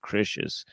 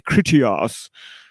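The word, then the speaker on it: Critias: kritias you know Christians actually I guess it's pronounced critious I'm not supposed to say kritias yeah the timeline for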